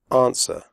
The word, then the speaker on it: answer: close the door close answer the WC is silent answer do not say ants were women the Oh in